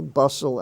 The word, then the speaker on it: bustle: e the LA sound Hustle that's an exception hustle bustle and Russell in those words the t is silent bustle a hustle bustle